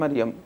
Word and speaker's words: মারিয়াম: শব্দটা আরবি ভাষায় মারিয়াম শুদ্ধ, আকারটা দিলেই সুন্দর হয়। জি, মারিয়াম শুদ্ধ। আপনি মারিয়াম বলে এটা শুনতেও ভালো, এটাই আপনি উচ্চারণ করতে পারেন।